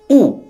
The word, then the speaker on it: ᱩ: The first letter of the set is U. This letter is pronounced U in Santali.